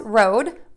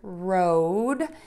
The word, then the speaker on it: road: So to make that long O vowel that you see in the word road, you are going to move your mouth from open to a pucker.